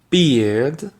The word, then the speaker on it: beard: Ensuite, vous avez la différence entre bird, qui est un oiseau, bird, et beard, qui est une barbe, beard.